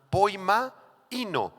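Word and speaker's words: ποιμαίνω: es la palabra poimo así como suena poima ino con acento en la segunda I y significa apúntenle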